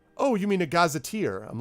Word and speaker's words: gazetteer: I never heard it I've never heard it pronounced so I thought it was either like it looks you know Gaza tear like why would I